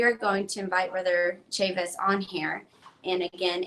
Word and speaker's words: Chavis: So, I'm bilingual, so I see the Chavez, and I want to pronounce it. Like Spanish, Chaves. Yeah. And you said it's Chavis, Cortt Chavis.